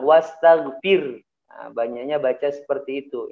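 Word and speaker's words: وَاسْتَغْفِرْ: Sama seperti ayat kedua juga, bukan ayat kedua, ayat ketiga, wastaghfir gitu ya. Fir haknya jangan sampai hilang, wastaghfir. Nah, banyaknya baca seperti itu. Ini fatal, salah ya. Haknya harus tetap dikeluarkan. Wastaghfir ya.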